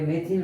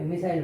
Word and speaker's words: methyl: Pronunciation अलग अलग प्रकार से अलग अलग ग्रुप करते हैं। METHYL कोई मेथिल बोलेगा, कोई मिथाइल बोलेगा, इथेन से इथाइल, प्रोपेन से प्रोपाइल, ब्यूटेन से ब्यूटाइल, पेंटेन से पेंटिल।